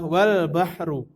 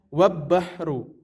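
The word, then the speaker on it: والبحر: Maka cara membacanya adalah wal bahru, bukan wab bahru.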